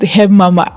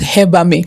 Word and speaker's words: Hebamme: Actually, it's not pronounced Hebamme, it's pronounced Hebamme.